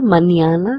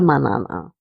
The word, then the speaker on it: mañana: And the squiggly line gives us the impression that we need to pronounce this letter as nia. So it's hasta mañana and not hasta manana.